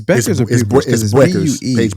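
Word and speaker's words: Bueckers: you gotta so that's PA buers is it's Beckers paers okay that's that's that's how they pronounce it that's all I'm saying I'm not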